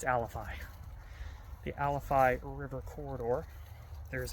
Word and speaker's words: Alafia: the AL alfi alifi I keep saying it wrong it's not Alafia it's alifi the alifi river Corridor